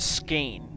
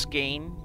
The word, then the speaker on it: Skein: for me so yeah i can see why it's pronounced skein you know the e-i-n all right that's my